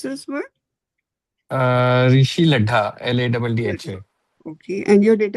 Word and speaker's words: Laddha: How do you pronounce this word? Rishi लड्ढा, LADDHA।